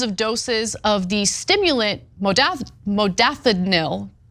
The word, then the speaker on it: modafinil: Investigators repeatedly noted that the unit had ordered thousands and thousands of doses of the stimulant modafinil, right?